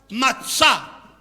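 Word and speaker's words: מָצָא: Y fíjese bien que la primera pronunciación tiene kametz, matzá. Por eso se lee con A. Pero la siguiente tiene holem. Por eso se lee con O, motzé.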